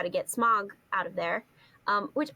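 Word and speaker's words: Smaug: for a little while it's pronounced SM smog like the like smog in in Smokey smog the name smog came from the men Hobbits and the name Sauron is quenan completely different language rules using sauron's pronunciation as a basis for smog is wrong so it's a very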